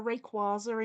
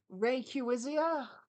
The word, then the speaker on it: Rayquaza: it oh yeah um so Rayquaza in Pokemon uh my little brother always called him no not my little brother uh my cousin and I misre it as a child and called him Ray cuisia so sometimes as a